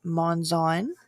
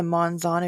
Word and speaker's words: Monzon: Her last name is pronounced Monzon, so I apologize. And also, besides the Monzon, if you are her in-laws, it is Monzon.